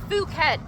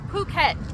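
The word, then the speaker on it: Phuket: that never needs it so it is not fuk it's puket it is not cifi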